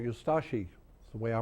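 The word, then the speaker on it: Ustaše: We pronounce it Ustashi. We pronounce the U and de-emphasize the ashi. Ustashi. Ustashi.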